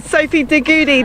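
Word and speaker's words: Sophie de Goede: yeah i'm pitch cypher sophie goody that's how you pronounce her name i did just double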